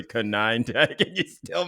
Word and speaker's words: Konyndyk: Yeah, our guest today is Jeremy Konyndyk, president of Refugees International and a longtime humanitarian and emergency operator.